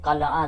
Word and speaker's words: قلعہ: قلعے کا نام ہے، قلعہ جس کو بولتے ہیں، قلعہ درست تلفظ ہے، تو یہ اس کا نام ہے.